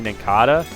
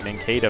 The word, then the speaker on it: Nincada: wrong, like it's apparently Nincada, and that's blowing my mind. I've been pronouncing it like Nincada for like 15 years now because it's like based off of a cicada, so it's gonna take